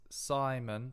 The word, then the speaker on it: Szymon: I think it's Simon, but it's spelled differently.